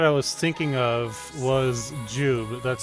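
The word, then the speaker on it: Jiub: So, the character that I was thinking of was Jube. That's spelled J I U B.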